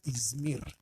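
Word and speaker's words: İzmir: Pero en el idioma turco no se pronuncia así, sino se pronuncia Ismir.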